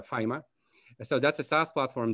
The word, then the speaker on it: Fyma: burns the founder of fima or fema or fema depending on where you come from uh the company has been pronounced differently but we prefer uh fima so that's a sas